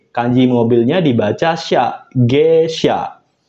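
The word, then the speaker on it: 下車: Kanji mobilnya dibaca sha, G sha.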